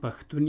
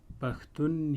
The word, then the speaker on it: پښتون: پوهیږئ یوه کلمه ده، یو ځواب دی، خو تلفظ یې درې ډوله دی: پښتون، پښتون، پښتون. ولې درې ډوله ځواب دی؟ ځکه چې په دې کلمه کې ښین توری دی. پښتون کې ښین توری په منځنۍ لهجه کې په خپله بڼه تلفظ کیږي.